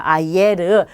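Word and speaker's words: ayer: 아예르. 자, 이고, 에고 두 개가 한꺼번에 빠르게 읽게 되면 아예르가 되죠.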